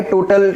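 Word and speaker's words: tau: आपको क्या करना है, टॉर्क की सम लेनी है। देखिए टॉर्क का सिंबल थोड़ा स्टाइलिश टी होता है, ठीक है, उसे टॉ कहते हैं एक्चुअली, TOU ये उसका नाम है, प्रोनाउंसिएशन है।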